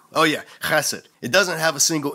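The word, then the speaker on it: חֶסֶד: Bible is this word, chesed. Say it, class, chesed. You gotta pronounce it like you're trying to hock up a big loogie to spit on some nerd who just disrespected you at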